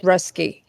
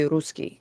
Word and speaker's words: Ruski: It's Rusky. Okay, good. Okay. It's a hard explanation. If I said it in Russian, it would be Ruski.